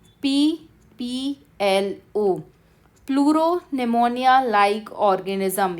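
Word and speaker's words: pneumonia: तो याद रखना है आपको, स्मॉलेस्ट सेल है PPLO, pleuro निमोनिया like organism. याद रखिए, निमोनिया की स्पेलिंग में P साइलेंट रहता है।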